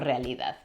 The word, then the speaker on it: genres: and singers In all genres Esta es la palabra que esta pronunciando Bad Bunny significa géneros, en este caso géneros musicales, y se pronuncia "genres". Creo que viene del francés.